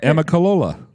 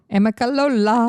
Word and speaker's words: Amicalola: Amicalola. Amicalola. Yeah, I think I would have been close because it's phonetically right.